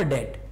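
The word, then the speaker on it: debt: The satisfaction of अ डेट। इसको डेप्ट नहीं कहते हैं डियर, इसको डेट कहेंगे, ठीक है, ये डेप्ट नहीं, बी साइलेंट रहता है, इसको क्या कहेंगे, डेट।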